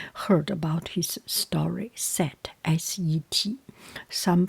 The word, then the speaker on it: Set: You have already heard about his story, Set, S-E-T. Some pronounce it, or some written S-E-T-H, Set.